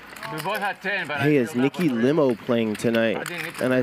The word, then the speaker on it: Limo: Lee I said man I'm almost positive her name is Nikki limo I did my homework I'm a good commentator I said trust me it's limo and it cost me